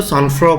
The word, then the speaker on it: sangfroid: SANGFROID, इसको सॉन्फ्रो बोलेंगे। ठीक है, ना ये जी बोला जाएगा ना डी बोला जाएगा। सॉन्फ्रो, सॉन्फ्रो होता है शांति या स्थिरता। ठीक है, सॉन्फ्रो होता है शांति या स्थिरता।